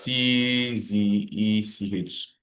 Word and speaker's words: Czech: uh Czech Republic that's C Z E C H pronounced as Czech Czech Republic government scholarship